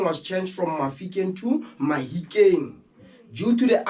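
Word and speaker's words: Mahikeng: changed from african to mahikin due to the accent of barolong in sauna it's hard for them to pronounce f so they use h instead of f for example when they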